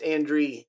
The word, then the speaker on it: Andre: Oh, it's totally It's Yeah, it's it's Andre. Andre. Andre. Andre. So as opposed to French, it's actually a German name.